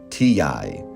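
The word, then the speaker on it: Tiyi: Her name is Antoinette Shippers, but she goes by T.I. It's T-I-Y-I, Shippers, and she pronounces it T-I.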